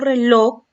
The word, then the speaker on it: reloj: En este caso, reloj es una palabra aguda. Aquí tiene la sílaba con acento, pero en este caso no se tilda porque está terminando en J.